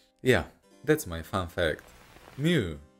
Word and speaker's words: mu: case that it makes me mad yeah that's my fun fact mu pronounced me in modern greek actually came from the